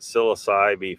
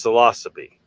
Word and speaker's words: Psilocybe: be psilocybe, not psilocybe, not psilocybe, because I pronounced it psilocybe for years and I was mispronouncing it. I just got used to it because so many people pronounce it that way, and it's wrong. It's psilocybe, which is, you know, which is the genus